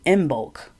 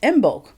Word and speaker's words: Imbolc: and I want to wish everyone a happy in bulk now people are wondering what's in bulk well at least some of you and in